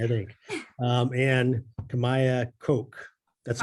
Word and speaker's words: Koch: it's funny mostly i think um and kamaya coke that's how you pronounce it okay koch yeah ch well because